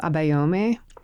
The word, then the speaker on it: Abayomi: And the whole point of the name Abayomi, is that pronounced correctly? Yeah, it's good.